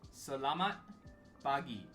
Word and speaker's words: Selamat pagi: So, for good morning, you say it as Selamat Pagi. Selamat Pagi. Now, this is me purposefully pronouncing it out, enunciating it.